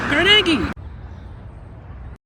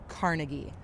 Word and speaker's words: Carnegie: the world but carnegi is the correct Scottish pronunciation and it's actually the pronunciation that he himself preferred Happy Valentine's Day that's